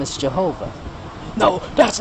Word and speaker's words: Jehovah: So I call Him Jehovah. The J with the G sound. Why? Because that's the pronunciation of the name.